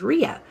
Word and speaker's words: Ria: oh yeah the predicted the correct pronunciation of Ria's name is Rhea I don't I've heard